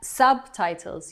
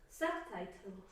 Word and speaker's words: subtitles: Subtitles. Your accent is at the beginning of the word. Subtitles.